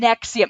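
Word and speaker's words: NXIVM: just what NE Nexium Nexium yeah and it's spelled weird it's like n oh geez n it's not like NX IU M it's like NX i v m no what I come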